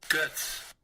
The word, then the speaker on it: Goetz: Guts. Guts. Guts. Guts. Okay, so not Getz, it's guts.